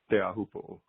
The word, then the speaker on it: Teahupo'o: First of all, let me just say bravo to the both of you on your much improved pronunciation of the word Teahupo'o.